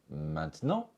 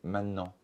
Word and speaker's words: maintenant: Maintenant, on peut prononcer maintenant, mais on peut aussi prononcer maintenant.